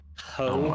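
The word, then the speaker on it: Howe: It's spelled h o w e s. Yeah, but it's spelled like that's less exciting.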